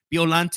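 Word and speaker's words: Biollante: Japanese version it's the she mentions biolante as bolant which is the proper way to say her name.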